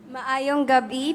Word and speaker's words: Maayong gabi: Is it Mayong Gabi or Mayad nga Gabi? Maayong gabi po sa aton na tanan.